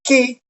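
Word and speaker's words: καί: Tenemos la conjunción kai, que se pronuncia ki, en un buen griego.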